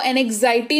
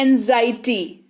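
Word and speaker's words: anxiety: बता रही हूं कि इस शब्द को एन एंजाइटी नहीं पढ़ते हैं एक्स का उच्चारण जो है उस परे जोर नहीं पड़ता है ये सिंपली होता है एंजाइटी क्लियर एंजाइटी ज यहां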